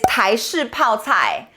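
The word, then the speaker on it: 台式泡菜: Chinese The word of the day today is “tai shi pao cai”, Taiwanese pickled cabbage The first 2 character ”tai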